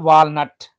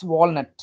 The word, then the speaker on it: walnut: now we talk about w a l and ut not walnut it's walnut walnut walnut walnuts boost immunity